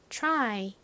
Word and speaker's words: try: 짧은 단어의 끝에 쓰여서 I 소리가 나죠 그래서 발음해 보면 try 이죠 try TR 이렇게 연달아서 쓰일 때는 무슨